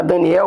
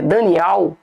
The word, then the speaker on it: Daniel: o profeta Daniel ou aqui tá Daniel, mas a pronúncia certa é Daniel, porque ele tem que ter o ter que ter o nome de Al no nome dele.